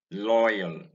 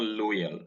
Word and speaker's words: loyal: the o y in loyal in royal this is not loyal many nigerians pronounce this word as loyal using in place of oi the sound here is oi and not o and so it is